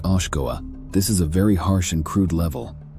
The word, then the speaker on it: Oshkoa: The first level, which is also the lower level, is Oshkoa, pronounced Oshkoa.